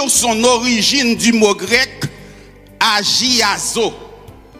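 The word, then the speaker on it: ἁγιάζω: origine du mot grec agazo comme cela se prononce h g I a Z aazoa signifie séparé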